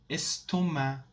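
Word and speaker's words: estomac: the pain exactly bravo estoma estoma stoma means stomach is not pronounced at this at the end of this world epilepsy epilepsy epilepsy the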